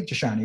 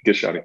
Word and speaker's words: Gishani: Gishani, right? It's a hard G. So good, Gishani.